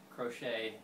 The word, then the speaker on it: Crochet: And it is pronounced like the knitting crochet.